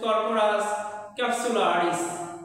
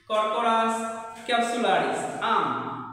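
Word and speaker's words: Corchorus capsularis: এরপরে পাটের বই নাম হচ্ছে কররাস ক্যাপসুলারিস। কররাস ক্যাপসুলারিস।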